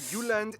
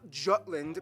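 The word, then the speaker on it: Jylland: here we go denmark is made of the uland not jutland peninsula that connects to germany in the south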